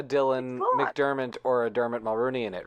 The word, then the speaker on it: Mulroney: think I misspoke Dermot Mulroney I think I said Mulrooney and I thought Dylan